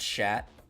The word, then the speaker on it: Chat: That was just called Shat. Yeah. But pronounced like the past tense of shit.